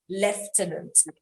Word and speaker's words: lieutenant: somehow the british want us to call it lieutenant is i l-i-e-u-t-e-n-a-n-t lieutenant okay but bukola you